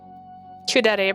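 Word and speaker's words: kuudere: on there's too many de I get confused couet pronounced couet a Japanese term for characters who appear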